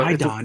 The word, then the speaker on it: iodine: It's like I-A-D-O-N, right? So I found it's I-O-D. Yeah. I-O-D-E-N. I-A-D-O-N. That's it. Yeah. Okay, there you go. Iodine. Iodine. There it is. There you got the pronunciation right.